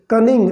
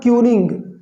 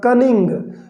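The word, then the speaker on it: cunning: कनिंग दोस्तों इसको हम पढ़ेंगे कनिंग, नॉट क्यूनिंग, right. Correct pronunciation होगा कनिंग।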